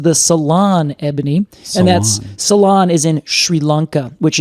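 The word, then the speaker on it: Ceylon: That particular species is the salon ebony and that's salon is in Sri Lanka which is spelled c e y l o n.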